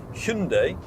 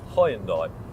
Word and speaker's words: Hyundai: very closely related, obviously Hyundai as it now has made clear that it would like to be pronounced in the UK, not Highendai as a lot of people have said, are very closely related.